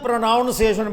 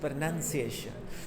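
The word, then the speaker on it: pronunciation: कहता ओ तो आदिना प्रोनॉन्सिएशन बड़ी खराब है जी इसे your okay it's note प्रोनॉन्सिएशन इट्स प्रनंसीएशन सो you think are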